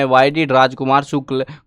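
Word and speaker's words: Shukla: राजकुमार शुक्ल है ये, लिखा ए है, ये पुराना जमाने का नाम है जिनमें ए साइलेंट रहता है, वो वाला काम है। तो ये राजकुमार शुक्ल है। शुक्ला बोल लो भैया, शुक्ला बोलना जिसको क्या फ़र्क पड़ता है।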